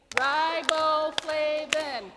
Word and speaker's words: riboflavin: to clap it out we're going to do riboflavin Nathan okay that four syllables so we're going to do it together on 3 123 riboflavin good it's also known